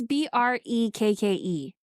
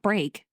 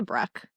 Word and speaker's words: Brekke: It's Brekke. So not break. We can say breck Dennis Breck.